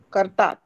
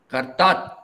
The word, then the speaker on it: kartat: Operation kartat. Kartat. Kartat. Okay. Kartat. Kartat. You are saying karta. What about the single T? Final T has to be pronounced, no?